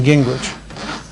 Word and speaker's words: Gingrich: And then Gingrich. For real, how does this spell that?